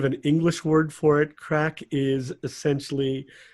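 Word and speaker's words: craic: It's called crack. It is indeed. C-R-A-I-C. Yes, not Craig, which is how my name is spelled with a G.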